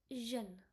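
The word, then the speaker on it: jeune: Eu will be like a closed lip sound. O okay like eu is like so it will be like xen okay means young javan xen one more example of it's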